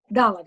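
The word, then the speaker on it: דלת: Dalet. Gotta get the accent on the first.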